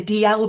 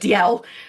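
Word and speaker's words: Dalziel: They anglicasize their name, but I find it very difficult to say anything but DL. So, I will I will stick stick with that.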